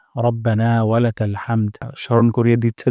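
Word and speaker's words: رَبَّنَا: হামদ প্রথম শব্দটি হলো রব্বানা এখানে র মোটা করে উচ্চারণ করব না এখানে এক আলিফ পরিমাণ মাত করব রব্বানা রব্বানা তারপর ওয়ালাকাল ওয়ালাকাল হামদ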